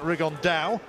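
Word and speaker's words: Rigondeaux: tattos talked about fighting rig on though or as he's correctly pronounced with the Spanish accent rig on Dow and shoe absolute geniuses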